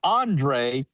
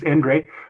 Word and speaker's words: Endre: How many people call you Andre instead of Endre? Well, probably about 60% call me Andre, and then everybody else knows how to say it, which is Endre. But it's a Hungarian name, and it starts with an E.